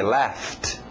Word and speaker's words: laughed: Passado regular ED, mas som só de um T. Laughed.